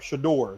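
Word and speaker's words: Shedeur: But okay, I just looked up Shador.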